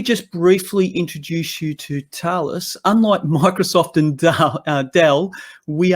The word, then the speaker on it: Thales: So let me just briefly introduce you to Thales. Unlike Microsoft and Dell, we are not household names. So I do appreciate that. It is pronounced Thales, by the way, as opposed to Thales or Tails.